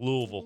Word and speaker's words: Louisville: with it too now when you say Louisville you got to say it like there's a bunch of just crap in your mouth Louisville awesome Avery congratulations